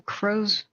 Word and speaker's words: Crozier: the live chat so crowser is how I heard it pronounced like Crow cros High CR spell